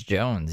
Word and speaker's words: Johns: And he says it's Jones, even though it's spelled Johns.